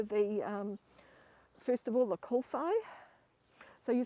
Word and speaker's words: Kōwhai: want to share the, first of all, the Kolfai. So you spell it K-O with a macron, W-H-A-I, Kolfai.